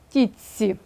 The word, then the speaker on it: тітці: ми пишемо Рідж ше слово тітці пишемо а вимовляємо тіці тому що свистячий ц впливає на т і ти перетворюється також на свистячий на ц і слово отче пишемо